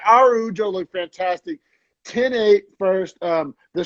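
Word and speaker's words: Araújo: Arujo, I like her so much that I'm not even going to complain about pronouncing her name the Brazilian way. Like, Yeah. Instead of Arajo, it's Araujo.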